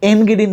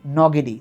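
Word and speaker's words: Ngidi: কিনা, কিন্তু তোমরা লুঙ্গি এনগিডির নাম শুনছো, এখন ক্রিকেট খেলে সাউথ আফ্রিকার দলে, এন্টিনি খুব বিখ্যাত ছিল। উচ্চারণটা এন্টিনি বা এনগিডি না, উচ্চারণটা হচ্ছে নটিনি নগিডি, তার মানে লুঙ্গি নগিডি,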